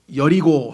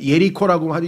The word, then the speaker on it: 여리고: 사실을 발견하게 될 것이다 여리고 성이 여리고에서 교통사고가났다 그럼 성격이 있잖아요 그리고 발음만 예리코라고 영어식으로 발음만 그렇게 붙였지 똑같은 장소잖아요 이집트 이집트지